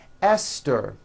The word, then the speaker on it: Esther: spelled with a TH, they are pronounced as if they were spelled with a normal T, like that. And these words are Thomas, Thompson, Teresa, Thailand, Thames, like the river, Esther, and thyme, which is a spice.